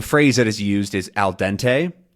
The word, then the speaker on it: al dente: that is used is alente um with a nice American pronunciation and that it translates